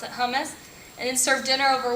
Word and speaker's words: hummus: Stacy pita chips and Sabra that's how you pronounce it hummus and then serve dinner over War bread of